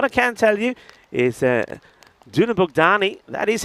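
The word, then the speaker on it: Dunabogdány: What I can tell you is Dunabukdani. That is how it's pronounced by the way.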